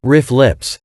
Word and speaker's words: RFLP: snps we can detect rflps sometimes pronounced riff lips when the DNA of